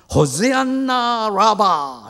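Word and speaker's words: הושענא רבה: 호시안나 라바 이렇게 외쳐요.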